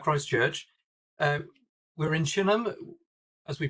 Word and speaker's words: Chineham: Uh we're in Chinham, as we pronounce it, which is a suburb of Basing Stoke.